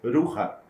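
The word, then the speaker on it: Rukha: Existe, descendo um pouco mais, o Ruha, pronuncia-se Ruha, se escreve R-U-K-H-A. Esse KH tem som de R, né? Como se fossem dois R's. Ruha.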